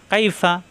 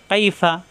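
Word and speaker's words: كَيْفَ: মাঝখানে উপরে চাপ দিয়ে কাই ফা জবর ফা কাইফা ফা উপরে দাঁতের আগা নিচের ঠোঁটের পেট থেকে উচ্চারণ কাইফা কাইফা দুই ঠোঁটটা হবে না কাইফা ফা জবর ফা আইন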